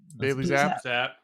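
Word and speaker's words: Bailey Zappe: Bailey Zapp.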